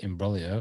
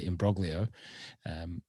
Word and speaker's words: imbroglio: podcast words there, and you tried to pronounce it with your best Italian accent there, imbroglio, or as I like to say, imbroglio.